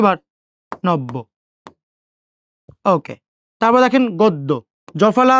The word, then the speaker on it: নব্য: এখন বর সাথে জফলা যুক্ত হওয়ার কারণে বর উচ্চারণ কয়বার? 2 বার। নব্য।